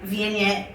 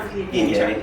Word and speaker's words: Viognier: It's another one I have a hard time pronouncing. Yeah. Viognier. Is that how you say it? Sure. Viognier, yeah.